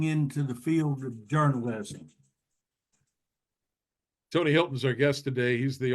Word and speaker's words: Hylton: of the books and we should point out that Hilton to in Tony's case is spelled with a Y so a little less Paris Hilton and a little more tony Hilton Hy l t n